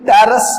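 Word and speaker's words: Pteris: अब देखो ये टेरस पी साइलेंट है, टेरस, ड्रायो इसमें पी साइलेंट है, टेरस, एडिएंटम और ट्रीडियम इसमें पी साइलेंट है, ट्रीडियम।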